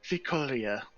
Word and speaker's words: Vicolia: Priestess God, I can't pronounce this. Vicolia? I think it's Vicolia. Vicolia? Vicolia, that is correct.